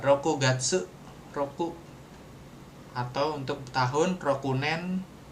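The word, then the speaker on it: 六月: hari keenam kalau bulan bulan Juni jadinya roku bacanya roku gatsu roku atau untuk tahun rokunen.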